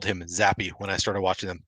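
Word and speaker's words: Zappe: know it's pronounced ba Bailey zap but it's zappy rhymes with crappy I didn't know I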